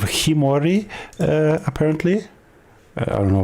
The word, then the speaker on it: Khiimori: Appar um but yeah I already mispronounced the name. It is the legend of Kimorei.